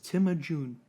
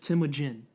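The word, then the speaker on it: Temujin: did you know that his actual name is tim joon no to tim jin i feel like i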